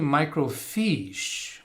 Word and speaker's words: microfiche: did we spell it it was actually microfiche which was a more correct way to pronounce it i think it was micro f-i-c-h-e i want to say